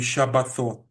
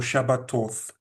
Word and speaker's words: Shabbatot: So the way that my ancestors would have pronounced Shabbatot would be Shabbathot, which means Sabbaths. or Shabbatoth in this case.